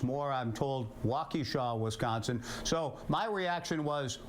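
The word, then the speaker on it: Wausau: was Connor and I said blunt it's actually pronounced Blount I also said he was from wesa Wisconsin it's more I'm told wesaw Wisconsin so my reaction was wow this guy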